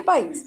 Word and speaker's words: país: Mas antes de eu mostrar, existe uma diferença da pronúncia entre pais e país? Sim. Sim. Falem a primeira. Pais. Paz. Pais. Falem a segunda. País. País. Olha a diferença, hein, gente?